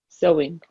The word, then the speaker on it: sewing: your clothes rather than so it's pressed sewing sewing it's spelled suing but it's pronounced sewing under nothing